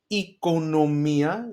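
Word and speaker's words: οικονομία: Economia, you see what I did there? Omicron iota together E, and then economia.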